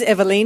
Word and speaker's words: Evelyne: Yes, my name is Evelyne. It rhymes with tortellini, if you get lost. That's the best way to pronounce it.